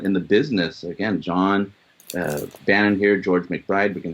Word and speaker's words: Bannon: It is pronounced Bannon, correct?